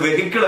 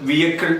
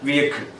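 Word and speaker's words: vehicle: അത് വെഹിക്കിൾ അല്ല, പഠിച്ചു വെച്ചോളണം. അത് വിയക്കിൾ ആണ്. എന്താണ് വിയക്കിൾ?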